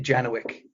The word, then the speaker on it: Janowick: your last name uh we pronounce it janowick which I think is a very Americanized uh version of that it's the Americanized version